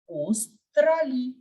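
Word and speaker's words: Australie: true it is Australia now in English we pronounce it as Australia sound is coming but we have seen that there is no sound of in French so we will pronounce it as OS trally remember that whenever you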